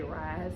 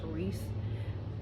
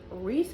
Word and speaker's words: Reese: I read this book I kept wanting to say rise and find that they pronounce Reese is I guess because the way it spelled but ree has the